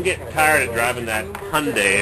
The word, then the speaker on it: Hyundai: tired of driving that hyundai it rhymes with sunday around transition so i was thinking of selling the hyundai oop unzoom i'm thinking